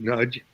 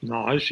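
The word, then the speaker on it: Nagy: famous classicist Gregory and nudge or she pronounces it nage even though he speaks Hungarian perfectly well uh nudge um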